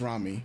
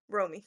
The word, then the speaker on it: Romy: It's OTK and uh so um yes, this artist Ramy Ro. Romy, right? Romy.